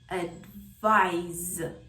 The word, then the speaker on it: advise: These two words sound almost identical, but one is a thing, a noun, which is advice, as in ice, and the other one is an action, a verb, advise, as in rise.